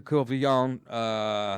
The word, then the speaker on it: Courvillon: According to Courvillon, that's the French pronunciation. You could say it like this, Courvillon.